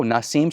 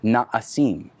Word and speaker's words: Na'asim: And I go, oh, Nasim? She goes, no. She corrects me, it's Na'asim.